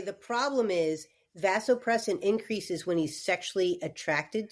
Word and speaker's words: vasopressin: sounds like a release that vasopressin am I pronouncing it correctly vasopress yeah vasopressin okay yeah yes it just a drop in